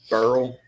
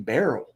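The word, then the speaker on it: Beryl: here is our wait why were you calling that hurricane Barrel it is barrel barrel is that how pronounce that a barrel that's how you say it barrel and that like Nicole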